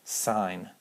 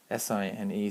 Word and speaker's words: sine: They're still pronounced, even when they're written like this, they're still pronounced sine, cosine, and tangent.